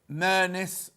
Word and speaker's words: Murness: She's at Victoria Murness, rhymes with sheerness, Mill in Moseley.